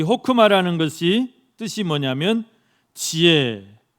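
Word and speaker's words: חכמה: 호크마, 가래 뱉는 그 발음으로 호크마. 그런데 이 호크마라는 것이 뜻이 뭐냐면 지혜, 또 명철, 또 현명함, 그런 뜻이 있어요.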